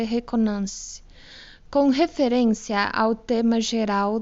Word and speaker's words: reconnaissance: Se escreve reconnaissance, mas eu acredito que se lê reconnaissance.